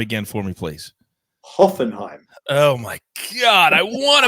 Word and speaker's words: Hoffenheim: season in germany but they lost 3-1 against hoffenheim at the weekend and hoffenheim have not been